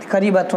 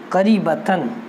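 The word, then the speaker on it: قريبةً: تقع قریبۃ من آگرہ، قریبۃ نہیں قریبتاً، یہ کتاب میں اعراب غلط لگے ہے، یہ مجھ سے غلطی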